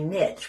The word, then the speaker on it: niche: spot I've totally found my Niche which rhymes with Rich so I feel very